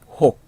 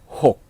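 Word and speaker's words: หก: 숫자 6은요. 혹, 혹 하고 짧게 일성으로 내리셔야 되고요. 7은 젯, 젯 하고 또 짧게 마찬가지로 발음하셔야 되고요.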